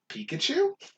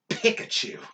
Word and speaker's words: Pikachu: we left off radicky spiro phiro ekans arbok pikachu what the what the are you talking about it's pikachu oh god oh garbage uh anyway raichu sandshrew